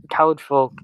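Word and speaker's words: Caledfwlch: Caliburn, that's okay, I guess, but I think Khalid Folk is just the correct way to say it.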